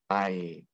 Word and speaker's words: white: e at the end the e makes the middle vowel say its name so this is actually going to be i and we don't hear the e at the end it's a silent e white white graph is